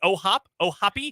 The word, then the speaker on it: O'Hoppe: Is that how you pronounce it? Yes, it is. It's just O'Hoppe. It is O'Hoppe.